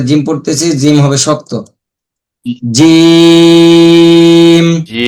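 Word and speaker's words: جيم: জিম, জিম কিছুটা মোবাইলে vibration থাকলে যেমন কাঁপে ওরকম কিছুটা হবে, ওরকমের কিছুটা হবে, আমরা খেয়াল রাখবো।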